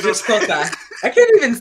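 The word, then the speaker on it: Xhosa: Now it's just Kosa. I can't even say Kosa. Did you know you have to click to say Kosa? Yes. You have to be able to click to even pronounce the name.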